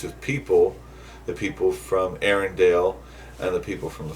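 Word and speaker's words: Arendelle: I found that interesting it's said Arendale Aaron Dell it's like it's a slightly different way of pronouncing it yeah at least I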